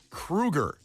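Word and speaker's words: Kroeger: of correcting people so it's Chad not Chad Kroger it's Chad Krueger no it's not I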